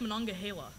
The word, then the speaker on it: Monongahela: the Ice Age I designate Daniel Daniel Lake Monongahela that's correct pronunciation too right Deborah okay good okay Reagan